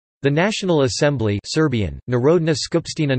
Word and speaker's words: Народна скупштина: The National Assembly Serbian, Narodna Skupština, Narodna Skupština, pronounced Narodna Skupština Sbj, is the unicameral legislature of Serbia.